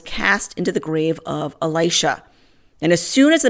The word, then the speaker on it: Elisha: Kings 13 20-21 so Elisha died the great prophet Elisha some pronounce it Alicia and they buried him